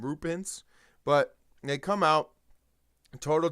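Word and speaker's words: Roope Hintz: Rope Hintz, is that how you say it? Roop Hintz. I know it's Hintz is the last name, Roop Hintz, but they come out total domination.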